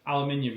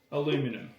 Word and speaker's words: aluminum: It's the way it's spelled, isn't it? Aluminum. Yeah, but you spell it wrong. No. We spell it the way we say it. Aluminum. Yeah, but it's aluminium. But technically we're correct because we spell it that way.